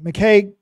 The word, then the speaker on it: McKay: McKay is how you say that name, just FYI.